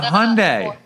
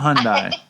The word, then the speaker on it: Hyundai: Aurora, it's a Hyundai. It's not a Hyundai. I don't know that I believe you, Dave, but haven't you seen a commercial on it's a Hyundai.